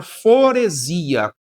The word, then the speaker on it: foresia: E uma outra relação chamada foresia. Foresia se escreve com S, não é com Z, apesar da pronúncia soar com Z.